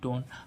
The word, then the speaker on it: tone: ऐसे इसमें HOLE, whole, TONE, टोन। अब ऐसे इसमें फाइल, FILE। अब इस आई का उच्चारण आई करने के लिए लास्ट में हम क्या लगाते हैं, ई, इसलिए इस फाइल।